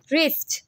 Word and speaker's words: wrist: The next word, wrist. W is silent in this word.